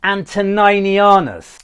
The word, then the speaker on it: Antoninianus: me, quite rightly so, it's not an Antoninus, that type of coin I was talking about. It's an Antoninianus. It's spelled slightly different. Antoninus is the name. The coin is Antoninianus.